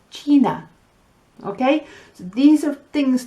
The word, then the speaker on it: China: And with I, give me an E. The letter I is E, A, E, I, O, U. So China is China.